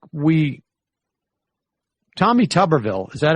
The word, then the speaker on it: Tuberville: doubt i mean i think like we tommy tuberville is that how we pronounce his name yes i mean i think there's no doubt that tommy tuberville is the at least the least informed as